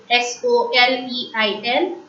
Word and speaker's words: soleil: S-O-L-E-I-L, soleil. E-I-L in French is pronounced as A, soleil. S-E-R-P-E-N-T, serpent.